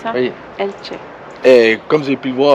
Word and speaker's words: Elche: Après avoir quitté El Campello après quelques jours, nous voici à Elche. C'est juste ? C'est ça. Ça se prononce comme ça ? Oui. Elche.